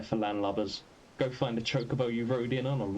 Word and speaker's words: chocobo: was voice acted, and in that they said chocobo, and I take that to mean that's supposed to be the canonical pronunciation, but although Final Fantasy